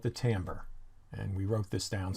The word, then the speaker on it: timbre: on sound and timbre yep that's how it's pronounced timbre musical instruments have characteristic sounds due to the